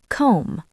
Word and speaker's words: comb: knife knee knock Silent B after M or before T. Comb, not combed.